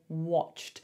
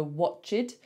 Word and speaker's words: watched: People want to say the E, they want to go watched, but it's just a cht. So it's like a CH straight to a T. So try to learn that as a new sound.